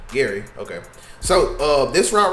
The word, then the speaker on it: Gary: Is it Gray or Gary? I always say his name wrong. Gary.